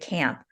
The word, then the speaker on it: Kamp: designs for outdoor spaces with landscape architect David Camp author of the new book nature design and